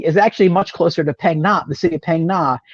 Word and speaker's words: Phang Na: So most people, when they talk about Southern Thailand, it's going to be Phang Na. Catch how I'm pronouncing it, Jeremy. Phang Na, and south.